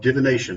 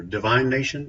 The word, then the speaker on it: divination: School of Divination or Divine Nation. I don't know how you even pronounce that. It's divination, Thank you. I think. Yes. Yeah, it's divination.